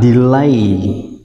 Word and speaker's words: delay: Từ này đọc là delay. A và y dài, chúng ta đọc là delay. Trọng âm rơi vào âm tiết thứ hai.